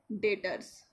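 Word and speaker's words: debtors: उसको हम बोलते हैं डेटर्स। लिखते हैं डेबटर्स है, बट ये बी साइलेंट रहता है, तो इसको हम लोग बोलते हैं डेटर्स, ओके।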